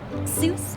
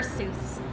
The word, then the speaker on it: Seuss: I mean it really Zeus is it I can see how you deduce that it's pronounced Seuss but when using your voice you would say it soy but grammar's aore and